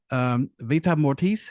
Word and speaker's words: Vita Mortis: But anyway, please get out and pick up Vita Mortis. See, I said it that right. I said it right that time.